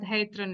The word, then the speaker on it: Heidrun: It's hard to pronounce. I have a soft D in my name. Yes, but Heidrun is fine. Heidrun.